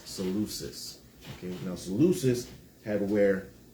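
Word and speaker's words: Seleucus: Then there's um Salucus, right?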